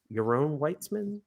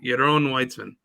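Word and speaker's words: Yaron Weitzman: written by euron weitzman your own weitzman how's it pronounced or how's it spelled y-a-r-o-n w-e-i-t-z-m-a-n well it's definitely a jewish guy yes your own it's probably a israeli name your own weitzman your own weissman so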